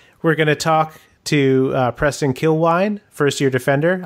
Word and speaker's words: Kilwien: gonna talk to Preston kill wine first year defender I've been saying his name wrong for weeks everyone I'm sorry most to him but to everyone else I've been call him kill ween forgive me you can